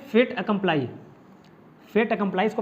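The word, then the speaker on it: fait accompli: तो इसको प्रोनाउंस करते हैं फेट अकम्प्लाई, फेट अकम्प्लाई इसको प्रोनाउंस करते हैं।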